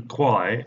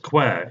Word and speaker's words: Kwai: Another inaccuracy is the pronunciation of the name Kwai in English, when it's actually pronounced Kwai in Thai.